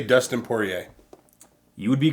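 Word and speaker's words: Poirier: Maynard Dustin I believe isn't it pronounced porier porier yeah yeah porier or is this clay Gua I'm going to say Dustin poier you would be correct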